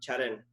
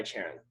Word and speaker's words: Charan: It rhymes with Darren, Karen, Sharon, like names that everyone, when they see it, they're like, oh yeah, that's Darren, or that's Sharon.